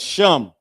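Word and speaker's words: שם: I forget the other one but sham. Sham is how you say name in Hebrew.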